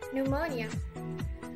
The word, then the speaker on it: pneumonia: P is not pronounced at the beginning of many words using the combinations PS, PT, and PM. For example, pneumatic, pneumonia, pseudonym, pterodactyl, received.